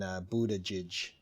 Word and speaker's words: Buttigieg: The three big ones: Ellison, Perez, and Buttigieg, I think is how he pronounces his name, are saying which might disqualify. I think that right along. Right. Although He's got two G's that sound like J's, and you know, he's